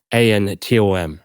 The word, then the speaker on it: Fantom: So Fantom obviously like is Fantom, but phonetically it's Phantom, right?